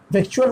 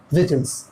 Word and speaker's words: victuals: the victuals are transported, इस word का pronunciation आप विक्चुअल मत कर दीजिएगा, इसका प्रोनाउंसिएशन होगा विटल्स।